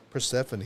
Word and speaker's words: Persephone: Persephone. Yep. That is how you Persephone.